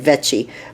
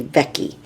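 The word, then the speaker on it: Vecchi: I think I said vety but I think it's Wendy vecky uh and just beautiful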